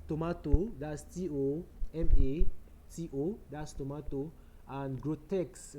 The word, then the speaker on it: Grotesk: It's spelled tomato. That's Tomatomato. T-O, that's tomato, and Grotesk, right, is Grotesk.